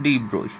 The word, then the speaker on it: de Broglie: इसको exact pronunciation होती है डी ब्रोई and Heisenberg uncertainty principle.